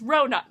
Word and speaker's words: Ronan: I was ready to fight someone if they told me, again, that his name was pronounced Rowan. I just made the argument being like, nope, there's an N in his name. There's not a W. There's a W in Rowan's name from Throne Glass. But not this. No. It's Ronan. Ronan for life.